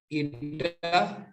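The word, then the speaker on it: η: ठीक है, इस सिंबल को प्रोनाउंस करते हैं, ये ग्रीक अल्फाबेट है, इसको ईटा बोलते हैं। ठीक है, इस सिंबल को ईटा बोलते हैं।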